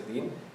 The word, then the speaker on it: deen: Did I pronounce that right? The deen, yeah.